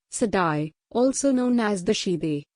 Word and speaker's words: Siddi: the Sidi pronounced sidai also known as the